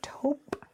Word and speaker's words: taupe: taupe taupe taupe how do you say it taupe nice it doesn't lose this cute spiky hair